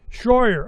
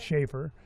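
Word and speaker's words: Shroyer: Shyer. All right. How do you How do you say No, it's not Schaefer.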